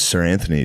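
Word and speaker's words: Seranthony: The the p the Phillies have a picture named Sir Anthony Dominguez. What? He's not a knight. Sir Anthony. How the do they do that? They spell it s e r.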